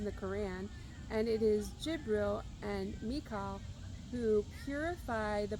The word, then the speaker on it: Jibril: In Islam Gabriel which I believe is pronounced Jibril for them, acts as a messenger